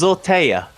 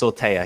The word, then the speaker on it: Zortea: It is Zortea, as in with a Y, A-Y-A. Oh, it is? How you would like it pronounced. Zortea, yeah.